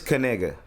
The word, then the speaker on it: Kaniga: Anyways, so it is Kaniga. Kaniga. So it's like, you gotta pronounce the K properly. You gotta be K, and you gotta say nigga fast.